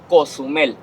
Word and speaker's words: Cozumel: smoke making a huge smoke wall haciendo una escalinata de humo showing everybody Cozumel was nearby.